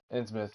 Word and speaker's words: Innsmouth: Innsmouth. It's fine. Its pronunciation is correct. That's why when you say Plymouth, you don't say Plymouth.